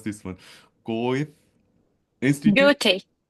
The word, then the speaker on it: Goethe: I forgot how to pronounce this one. Goethe Institute. Goethe. Goethe Institute.